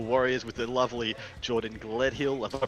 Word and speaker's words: Gledhill: with the lovely Jordan Gledhill. Have I pronounced that correctly, mate? Yep, Gledhill. I always think there's an N in there for some reason, like Glenhill.